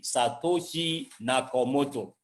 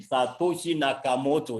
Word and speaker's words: Satoshi Nakamoto: nagging problem like I said until when again Satoshi nakomoto that I want to be sure I'm not mispronouncing the name Satoshi Nakamoto yes was demand or the group of men